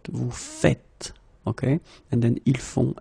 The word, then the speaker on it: faites: it like that and it's not vous faisez but vous faites.